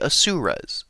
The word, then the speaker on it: Asura: And what better way to start than with one of the lesser known celestial races, the Asuras. So, let's get into it. The Asuras, pronounced Asura, can be referred to